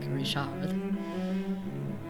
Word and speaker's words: Richard: Richard guo French or if he's French I suppose I should be pronouncing his name more like Rishad from 1916 I didn't